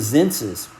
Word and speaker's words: Xenses: So that afternoon, we decided to go to Zenses. That's it's like Census, Sen, but it's spelled Zenses with an X.